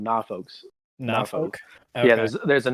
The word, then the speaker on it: Norfolk: In Virginia, which is where Norfolk is, that's how they pronounce it. They call it Norfolks.